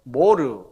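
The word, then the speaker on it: מור: 모략은 히브리어로 모르, 그렇게 발음합니다. 모르.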